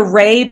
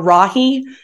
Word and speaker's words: Rahe: to my personal website my name is Ray but it's spelled kind of weird it's r a h e or Rahi so you go to